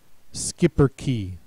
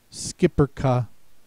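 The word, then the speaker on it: schipperke: Next word, skipper key, skipper ka, shipper ka. Any of those three pronunciations. Notice here the K sound is spelled with a CH, and the vowel at the end is not silent.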